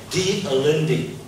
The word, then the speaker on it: De Allende: And it's foolish if you pronounce a Spanish name and you can't speak it, so you'd rather pronounce it in an English way. I can't speak Spanish, so I pronounce it a simple way.